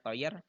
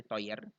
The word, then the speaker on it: teuer: Nah, kata sifatnya contohnya mahal yaitu teuer ya, bacanya teuer. EU dibaca oi, jadi teuer.